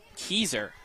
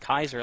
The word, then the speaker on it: Keyser: number 2 brings up Keyser, I believe it was pronounced. I thought it was pronounced Kaiser, like the city, since it's spelled that way. But from the PA announcer, it said Keyser.